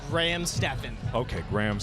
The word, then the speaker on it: Stephan: We're joined here by Graham Stephan, who you might recognize from last year's fight against Michael Reeves. Yes.